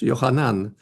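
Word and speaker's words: יוחנן: czyli Jan Chrzciciel Jan Chrzciciel Jan po hebrajsku johanan Jan Jan oznacza po hebrajsku jest trochę dłużej to się wymawia złożony z dwóch części J znaczy Bóg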